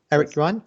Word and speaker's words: Eric Yuan: obviously Eric you are you on am i pronouncing right Eric Ron yep so so you know talking of presenting